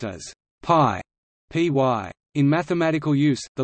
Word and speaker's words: pi: para metros meaning circumference in English pi is pronounced as pi py in mathematical use the lowercase letter pi